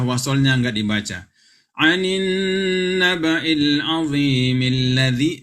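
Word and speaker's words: العظيم الذي: Anin naba'il azimil ladzi, milladzi, bukan mi alladzi. Ya, keliru kalau bilang mi alladzi. Anin naba'il azimi alladzi, itu keliru. Tapi karena ini hamzah wasal, maka anin naba'il azimil ladzi. Seperti itu bacanya.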